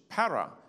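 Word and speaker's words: παρά: Para. In the Greek spelling, it looks like papa. But the letter that looks like a P is actually rho. It's pronounced as an R, para.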